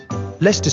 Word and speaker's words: Leicester: with our great river is the thames greenwich leicester square borough one of the best ways to